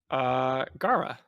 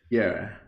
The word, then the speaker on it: Gara: Okay, because Lotus actually pronounces it as Gera.